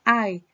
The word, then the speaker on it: I: sería nuestra personita yo se le describe como una y latina pero se pronuncia ay ay am yo estoy